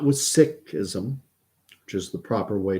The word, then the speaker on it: Sikhism: not with Islam not with Hinduism not with Sikhism which is the proper way to pronounce Sikhism if for members of the Sikh